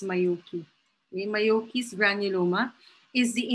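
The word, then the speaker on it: Majocchi: So it's pronounced as Mayoki.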